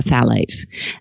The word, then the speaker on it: phthalates: a pesky little endocrine disruptive chemical called a FAL eight and for the nerds out there who are